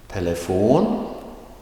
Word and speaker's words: telefon: Telefon, telefoner, telefonerna. Let me stop quickly here. Telefon, that is with the rising tone on the last syllable.